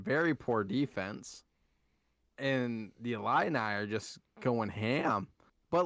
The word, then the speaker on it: Illini: me hey watch the number five illinois fighting illini all right that's how you say it versus